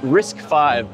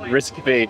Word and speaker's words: RISC-V: that unifies AI and risk 5 under a single software solution. So it's radically going to change the way we do AI going forward. Wow. Engineers is pronounced risk 5 not risk B.